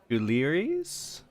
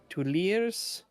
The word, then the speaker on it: Tuileries: Everything from Tuileries to... Help me out here. Fucking drowning. Tuileries?